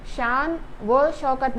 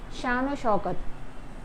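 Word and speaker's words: شان و شوکت: पढ़ा जाएगा इल्म दौलत तो यहां पर वाव का आवाज ओ आता है इल्म दौलत शानो शौकत शान वह शौकत नहीं शानो शौकत दिल दिल जान इज्जत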